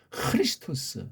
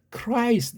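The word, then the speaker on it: Χριστός: 그리스도라는 일본 말투의 한글이 아니고 크리스토스. 힘듭니까? 이렇게 정확히 낼 수 있는 것은 배달계로밖에 없어요. 딴 나라들은 다 안 되니까 영어도 흐자 발음이 안 되니까 크라이스트 이렇게 하잖아요. 크라이스트. 이게 왜 크예요? 흐지요. 우린 크리스트 또는 크리스토스.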